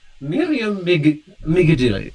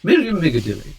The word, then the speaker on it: Miriam Migadilli: Okay, I am Miriam Migadilli. That's how you pronounce it. Miriam Migadilli.